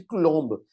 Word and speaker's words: Coulomb: príat em 1785 por Charles de Quilombo tá que é o Coulomb que a gente chama de mas na verdade o Charles de nome era francês e por isso que eu pronuncio o nome dele dessa maneira né então vamos chamá-los de